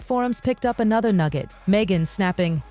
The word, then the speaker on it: Meghan: Megan, snapping, "It's Megan, not Megan." The H is silent.